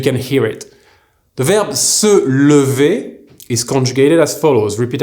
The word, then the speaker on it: se lever: So make sure you pronounce that A or the E correctly. Here, I'm going to conjugate both of them one after the other so you can hear it.